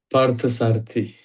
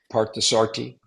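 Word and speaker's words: Parthasarathi: Partasarti. Partasarti. Yep. That's how it's pronounced.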